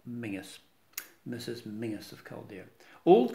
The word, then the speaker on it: Menzies: first of scotland but in scotland menzies is mingus mrs mingus of calder